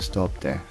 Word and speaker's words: Stob Daimh: And then you'll come to the summit of Stob Daimh. I know it doesn't look like it would sound like that, but that's how you pronounce it, Stob Daimh.